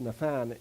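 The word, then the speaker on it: נתן: knows this is the the hebrew is actually pronounced nathan and it's means to give but it also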